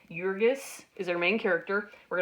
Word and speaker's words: Jurgis: to understand the characters jurgis is our main character and I don't strictly speak lithuanian but to the best of my ability it's pronounced as though it begins with a y jurgis is their main character